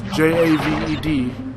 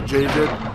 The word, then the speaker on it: Javed: It's Javed. Some people pronounce it Javid.